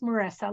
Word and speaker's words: Marissa: it's yes thank you it is Marissa like Vanessa only with an M excellent thank you I